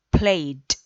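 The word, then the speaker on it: played: ok también recordar que la pronunciación del pasado de los verbos en pasado o en pasado participio play & ok no es play y se conjuga a play & ya se pronuncia con una t al final eliminando la de entonces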